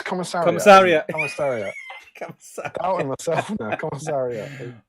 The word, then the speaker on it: Commissariat: Commiserate. What? That one? Yeah. Commiserate. That's what I said. Well, you corrected me last time. No, it's commissariat.